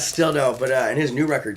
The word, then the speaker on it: Still Doe: Oh, is that how you say his name? I kept this is still dose or. no, it's still dope.